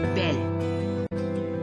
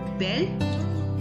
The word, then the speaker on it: belle: And the pronunciation goes like nouveau, nouvelle. Beau, belle, nouveau, nouvelle.